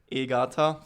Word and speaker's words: Egarter: So pronouncing my last name in German or the Austrian way um is Egata. First name would be the American way. the Austrian way. But I I forgive everyone um who's an American listening to this podcast and pronouncing me.